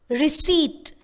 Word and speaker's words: receipt: i v e e receipt re e c e i p t kindly note the pronunciation of the word re e c e i p t the sound p is silent it's just receip not